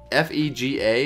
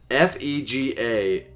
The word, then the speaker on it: Fega: FEGA Michaels. I think it's pronounced Fega. Like that.